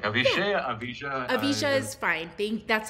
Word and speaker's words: Avijah: address you so You I can call pronounce me Avijah, which is the American pronunciation, but I called my mom today, asked her where does she find my name, and she said it was Avishe in the Avesta book, and it means special.